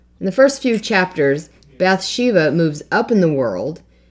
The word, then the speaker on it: Bathsheba: She's very beautiful, and her name is Bathsheba. Although in the movie they pronounce it Bathsheba.